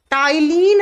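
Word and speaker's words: ptyalin: सलाइवेरी amyrin enzyme या टाइलिन लिखा जाएगा पी से प्रोनाउंस किया जाएगा टी से टाइलिन अ माइलेज इसी को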